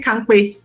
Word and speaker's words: Kanpe: So it's actually Kanpe, as in yes, Kanpe.